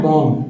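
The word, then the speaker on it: bomb: B silent हो जाएगा यहां भी जो है बी साइलेंट है बम क्या पढ़ना है बम ब बम अब टम यहां भी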